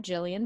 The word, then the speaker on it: Gillian: and I'm Joey at Jillian with Jillian us with a G I don't spell it out Jillian with a G but it is G like giraffe or ginger um Jillian with a